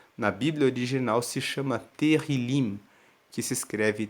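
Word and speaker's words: Tehilim: hebraico se chama na Bíblia original se chama terril que se escreve t e h i l i m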